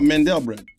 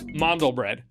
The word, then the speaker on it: mandel bread: Oh, Mandel bread. Close. Mandle bread.